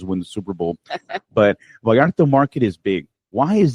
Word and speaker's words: Vallarta: And now talking about upcoming things coming up in Hemet, what about the Vallarta Market? I'm sorry if I'm mispronouncing that.